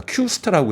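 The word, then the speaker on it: Q*: 그러니까 Q스타라고 해서 Q하고 이 스타 별점을 읽는 거를 Q스타라고 읽어요.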